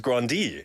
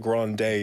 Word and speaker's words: Grande: as Ariana Grande but David says her real pronunciation Grande is grandi because that's what she said in an interview she says Grande yeah so people asked her grand day because that's how they introduced her they never they never